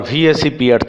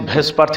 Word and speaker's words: VSEPR: pair repulsion theory, or VSEPR theory. Some people do pronounce it Vespar theory, but please don't do it, right?